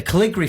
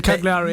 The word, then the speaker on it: Cagliari: The Caligari fans. The Cagliari, yeah. That's how you pronounce it, sorry.